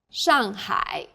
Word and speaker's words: Shanghai: a word in pinion the pronunciation for the famous city Shanghai is Shanghai the first syllable here is made of an initial and a final and a fourth fall tone sh the second syllable is made of an initial h and a final I and a third falling then Rising tone sh well done let's